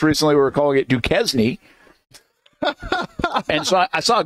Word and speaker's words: Duquesne: The silent S in both of those names.